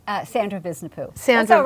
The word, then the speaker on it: Visnapuu: guests like Susan, am I saying it right, Visnapuu? Sandra Visnapuu.